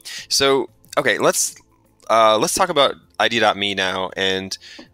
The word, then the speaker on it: ID.me: So, okay, let's talk about ID.me now. And do you call it ID.me still or ID? IDMe. IDMe. Okay. Yeah. You don't, there's this silent dot.